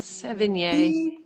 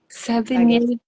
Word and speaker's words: Sevigny: Sevigny, Sevigny.